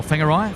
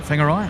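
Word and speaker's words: Whangarei: W's uh pronounced as PH's or Fs rather.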